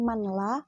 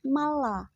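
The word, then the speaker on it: من لا: Itu ada tulisan man. Tapi bacanya bukan manla, akan tetapi malla. Jadi suaranya itu dimasukkan.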